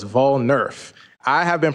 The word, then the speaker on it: Vol-Nerf: And I put the pronunciation up there, but it's Vol-Nerf, like voting and Nerf ball. So it's Vol-Nerf.